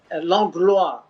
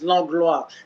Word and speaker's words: Langlois: a comment because of the way you you pronounced uh eric langlois long blue right in french it's log la but the interesting thing is i believe it's old french to say eric the english eric logley yeah yeah definitely long way right right between which would mean eric the englishman but uh it became la glor in french right okay i mean